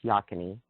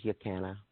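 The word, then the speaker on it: Yocona: a place it's called spelled yo canna but pronounced yakin II I think the original pronunciation was yo canna but that changed over the years me and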